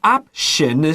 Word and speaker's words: option: But option is 这个 T 有 SH 的发音，写下来。And then going to one of these shelters.